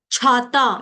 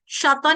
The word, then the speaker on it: छाता: झंडा छाता इसको छाता बोलेंगे। इसको शाता नहीं बोलेंगे। साता नहीं बोलते ना।